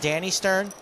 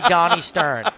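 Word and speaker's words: Dani Stern: And by the way, if you write to me and say that Donnie Stern is pronounced Danny Stern, I'm going to go home, lift weights, go to your hometown, and light your local Pizza Hut on fire. Because it is definitely Donnie Stern.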